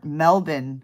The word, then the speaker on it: Melbourne: D D from melbour Melbourne Australia I know that you're supposed to pronounce at melbour I only know that